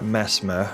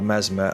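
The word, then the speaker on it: Messmer: how to pronounce it it's spelled m SS m e r so that would say to me in like an English accent as mesma but it might be pronounced Mesmer I don't know what's this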